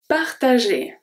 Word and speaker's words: partager: Partager. Partager. So the G here turns into a soft G because it's followed by ER and it's going to make the sound E.